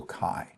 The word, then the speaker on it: chi: And kai is pronounced like a c with from a k and then a long i. So kai.